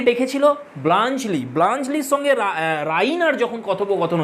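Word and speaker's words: Bluntschli: তো ফ্রেন্ডস, অনেকে এই নামটার উচ্চারণ করে ব্লাঞ্চলি, কিন্তু এটা উচ্চারণ হবে না, এর উচ্চারণ হবে ব্লাঞ্চলি, এরকম সাউন্ড হবে। সুইস নাম একটা।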